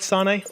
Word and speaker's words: Sanei: Am I saying your name right? Sane. Sane is good. Yes. Very good. Well done.